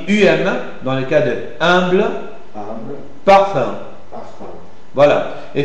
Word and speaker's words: humble: Il y a une prononciation un peu plus allongée et en position tonique devant n'importe quel concernant. Par exemple, vousz avec moi humble humble ou lunch.